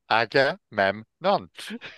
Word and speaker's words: Agamemnon: Agamemnon. God, you can tell you're a teacher. Yeah. Break it down. Agamemnon.